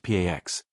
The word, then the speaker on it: P4X: He adopts the pseudonym P4X, pronounced Pax, a cheeky nod to enforcing peace through punishment.